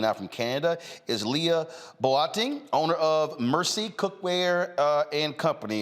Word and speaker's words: Boateng: Joining me now from Canada is Leah Boateng, owner of Mersicookware and Company. Did I pronounce the last name right?